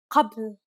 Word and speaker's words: ق: It sounds similar to a K sound, but deeper. To pronounce this sound, think of it as if you were pronouncing a regular K sound, except try to retract your tongue further back into your mouth, as if you're aiming for the back of your head.